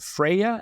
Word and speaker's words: Freya: of your characters, is her name, do I pronounce it Freya?